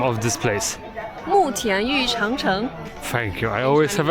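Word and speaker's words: 慕田峪长城: how do you pronounce the name of this place? 慕田峪长城 Thank you.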